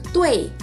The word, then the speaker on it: dui: kalau teman-teman tadi dengar, gue bacanya adalah tui. Jadi kalau misalkan ada ada finals U dan I, ada finals UI gitu ya. Anggaplah di antara U dan I ini tuh kayak ada E-nya dikit banget gitu.